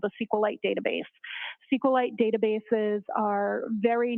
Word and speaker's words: SQLite: as far as the sqlite database uh how is that spelled it is capital SQL lowercase i t and sqlite uh is also commonly pronounced as SQ light so both pronunciations are acceptable now once you received